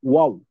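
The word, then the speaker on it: waw: Pero it pronounced as wow. Wow. W-A-W. Wow.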